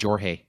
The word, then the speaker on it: Jorge: a Mexican mom, and their name is either George or Jorge. And you're like, oh shit. Fuck. And you're like, shit. How do you pronounce it? Yeah, it's like 50-50. And he's like, Jorge. Jorge.